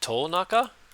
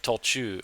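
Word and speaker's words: 途中: Was it Tolnaka? 途中で 30 分ほど休みま That's しょう。 not Naka there, it's Chu. Okay, Tolchu, on the way, halfway.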